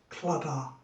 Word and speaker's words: Claddagh: mcneil shaving soap and it is claddagh or it could be pronounced clutter so we'll get this on